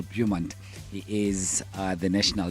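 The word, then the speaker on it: Beaumont: We were speaking to Michael Bum Bumont. I should say the T is pronounced Michael Bumont.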